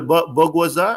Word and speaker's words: bourgeoisie: I didn't pronounce it well. Bourgeoisie.